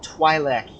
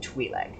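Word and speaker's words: Twi'lek: eastern dunes sea somewhere interesting that he pronounces it twilak here yet in kotor 2 he pronounces it twilight i assume i mean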